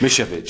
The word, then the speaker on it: Misiewicz: if they can't pronounce miss misha pitch so it's mish f h me like you've got an itch that's right right now